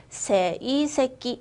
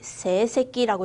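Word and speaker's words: 成績: 시켄노, 성적, 세이새끼, 세새끼라고 읽으시면 되고요.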